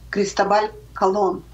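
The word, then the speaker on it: Cristóbal Colón: том, какие зверства совершал Кристобаль Колон. Это его оригинальное имя, звучащее вот именно так. Христофор Колумб, это уже потом ему приписали, но произносится Кристобаль Колон, и всегда он оставался таким.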